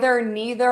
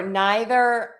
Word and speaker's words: neither: Is it either, neither, or neither? Oh my gosh, those words have many, many variations. And you can pronounce those neither, neither, either, either.